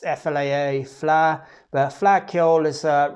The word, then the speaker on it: Fleadh: this um it's called the flat ipa it's pronounced flaa fla but flacciol is a really ancient irish